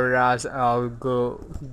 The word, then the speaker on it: Ra's al Ghul: how do you pronounce that? Ra... fuck. Oh, Ra's al Ghul.